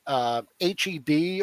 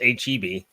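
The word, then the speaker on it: H-E-B: it's pronounced HEB. HEB. Like, Okay. If you see Heb, you're kicked out of the state for 20 years.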